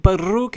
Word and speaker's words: Baruuk: I don't know if but Luke is pronounced with the rolling R but it sure is